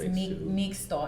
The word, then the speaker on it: Mixto: So I named it Mixto. Mixto, people they'll pronounce it Mixto, but it's Mixto. And so if it's in the indigenous tongue, like Mexico has X in it, it's that's the indigenous sound.